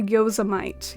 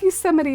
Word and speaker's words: Yosemite: right pronunciation of words i used to say yosamite you all like yosemite my dad laughed at me so hard when he heard me say that he was he had to give me a little lesson i say it like yosemite now i've heard both pronunciation